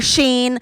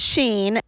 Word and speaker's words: Shein: like, my earrings are Shein, my shoes are normal. And I was like, what? Okay, so Shein is pronounced Sheen, and like, what is normal?